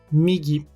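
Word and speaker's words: みぎ: A primeira, migi.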